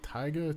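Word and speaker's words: Tyga: because I'm not up with current stuff but tigga T yga yeah it's tigga yeah all right have you caught wind of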